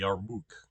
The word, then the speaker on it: Yarmouk: your book uh sorry yarmouk right it's a long it's a long u that's why there's o uk and you can actually see the wow as the next as the next the last letter there um not that